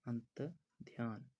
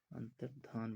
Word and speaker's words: अंतर्धान: तो आप सभी ने याद रखना है हमेशा क्या बोला जाता है, अंतर्ध्यान, अंतर्धान बोला जाता है।